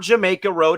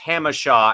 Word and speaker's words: Jacumba: Jacumba. It is not Jamaica Road. It is pronounced Hamashaw out here in San Diego.